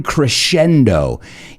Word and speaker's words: crescendo: And I know it's popular, and that's why I said in the intro, its popularity is constantly in crescendo. Y sé que conocéis esa palabra, pero la pronunciación es un poco diferente.